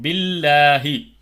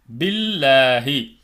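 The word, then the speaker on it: بالله: அந்த லாமை லேசாக உச்சரிக்கணும் பில்லாகி பில்லாகின்னு படிக்கக்கூடாது பில்லாகி பில்லாஹி லில்லாஹி லில்லாஹி மாஸவாத்தி படிக்கிறோம்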